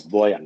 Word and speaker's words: Boyan: to butcher your name proper name is boyan i mean that's fine originally it's spelled with j but i changed it to y to make it a bit easier it's still very complicated